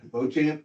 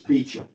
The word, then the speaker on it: Beauchamp: Bochamp. But it's not really Beauchamp, it's Beecham. And you know why?